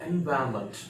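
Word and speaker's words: environment: वहां पर जो आर होता है, आर का प्रोनाउंसिएशन हो ही नहीं रहा, एनवायरमेंट, एनवायरमेंट, एनवायरमेंट। आई am taking care of एनवायरमेंट, एनवायरमेंट होता है, ठीक है।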